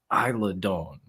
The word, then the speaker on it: Isla Dawn: three different names I'm I'm pretty sure it's Isla Dawn yeah that's what it is okay yeah because I don't know how to pronounce it I'm pretty sure it's Island tomato tomato Don wins there we go